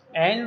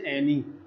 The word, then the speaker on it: Anne: देखिए, एन वॉज, देखो इसके दो चारण करते लोग, कुछ तो बोलते से एनी और कुछ बोलते से एन, तो दोनों में से कोई भी प्रोनाउंस आप कर सकते हैं।